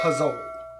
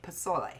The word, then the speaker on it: pozole: this recipe it's his recipe for a green pozzole but as babe says puzzle i don't say it like that are you sure that's you that said it like that and it's actually pasoy well whatever it is kirby it is delicious